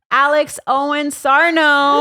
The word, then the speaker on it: Alex Owens-Sarno: I'm just going to goe ladies and gentlemen Alex Owen Sarno y I said it right you did it